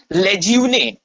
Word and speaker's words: Lejeune: ठीक, एक क्रिटिक है आपके जिनका नाम है लेज्यूने. ओके, लेज्यूने और लेज्यून, whichever may you may like to pronounce, वो क्या कहते हैं?